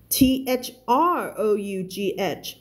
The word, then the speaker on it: through: h o u g h t thought thought t h r o u g h through เสียง คน ละ เสียง เลย นะ เสียง